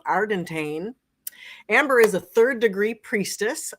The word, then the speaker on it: Ardantane: And she says, like a pirate, Ardantane. You won't ever forget it now, Ardantane.